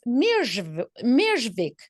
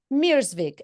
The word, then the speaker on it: Mierzwik: Mierzwik. And I will say it both ways, so wait for it. The Polish pronunciation is Mierzwik, right? Mierzwik. Yes. But in America, we say Dr. Mierzwik.